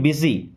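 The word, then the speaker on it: busy: मतलब होता है व्यस्त इसको बुसी नहीं पढ़ना है क्या पढ़ते हैं बिजी आर यू बिजी क्या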